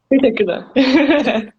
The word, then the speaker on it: Teşekkürler: Teşekkür. Teşekkür. Teşekkürler.